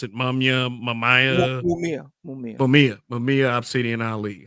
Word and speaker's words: Mumia: How do you pronounce it? Mumia.